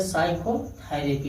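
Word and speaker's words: psychotherapy: यस से पहले आया पी, इसको क्या पढ़े साइकोथेरेपी पढ़ा जाता है। क्यू आर यस ई साइलेंट नहीं होता है, क्यू आर यस साइलेंट नहीं होता है।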